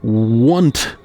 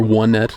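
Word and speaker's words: Onett: in t uh tcon 3 4 side Etc onet does contain the number one in such a way that perhaps the the correct pronunciation of onet is actually want and the word the name want does sound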